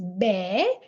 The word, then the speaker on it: બે: Then 2 is be, and this is how it's written.